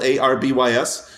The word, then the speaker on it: Arby's: here's what I found out is Arby's, like it's spelled Arbys.